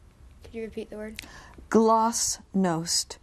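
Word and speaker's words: glasnost: you repeat the word gloss nost it can also be pronounced glass no uh glass no g l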